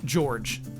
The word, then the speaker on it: George: The Spartan in Reach is named or pronounced George, spelled with a J, not pronounced Jorge, but that's George.